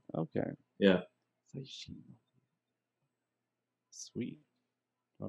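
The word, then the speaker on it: 最新: So, how is it pronounced again? Or how do you say? Saishin. Saishin. Okay. Yeah. Saishin.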